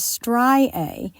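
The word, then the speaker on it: striae: them well stretch marks the medical term is stri a and that's spelled s t r i a e well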